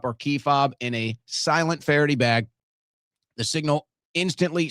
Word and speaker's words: SLNT: That's why I'm using and I suggest you use sent silent is actually how it's pronounced there, but slnt silent.